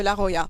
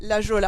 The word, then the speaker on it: La Jolla: je suis sûr que la plupart d'entre vous disais la geôle à avant de mon temps de le dire c'est normal mais ça se prononce à l'espagnol et pourquoi parce que